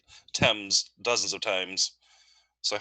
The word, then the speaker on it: Thames: It's English, so it doesn't have to make phonetic sense to the way it's spelt. So yeah, it's Thames.